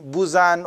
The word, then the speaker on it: Buzan: How to Use Your Head by Tony Buzan, or some pronounce it Buyan or something.